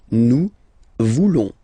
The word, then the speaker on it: nous voulons: Then for nous, classic ending, ONS, don't pronounce the S, just pronounce the on. Nous voulons.